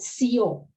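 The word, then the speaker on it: σιώ: So she says, Naito Sio. So it's written in Aristophanes' text as sigma, iota, omega with a acute. In Attic, it would be teo.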